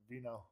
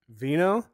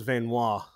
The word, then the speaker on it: Veinot: say your last name Vino Veno I thought it was venois I I figured it was French Canadian and you hail from